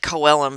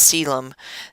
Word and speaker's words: coelom: they have a coelom it looks like Co Elam but it's actually pronounced coelom that's the body cavity